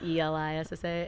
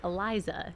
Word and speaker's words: Elissa: because my name's spelled like a little weird with the Elissa. And so people be like, Eliza. It's like, No. where? Yeah. Where is the Z?